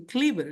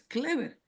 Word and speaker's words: Clever: Es como por ejemplo, "Mi nombre es Clever y algunos aquí en inglés me dicen Cliver." digo, "No, no, mi nombre no es Cliver, es Clever."